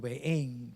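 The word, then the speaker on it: Bahréin: entre los Emiratos Árabes y Bahrein, o Bahrein, como se pronuncia el país, yo me quedé no sorprendido, admirado de cómo la secuencia profética va cumpliéndose.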